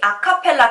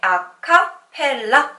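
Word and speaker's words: a cappella: 부터 시작이 되었습니다 여러분들이 아카펠라 글자를 한번 읽어볼까요 여러분들이 무의식 중에 아카펠라 이렇게 끄 서 일금 친구들이 꽤 있을텐데 사실 이 아카펠라 는 아 카펠라 라고 부릅니다 카펠라 풍으로 라고 읽을 수가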